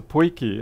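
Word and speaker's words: potjie: enough, to finally get to taste the poiki at the end of the night.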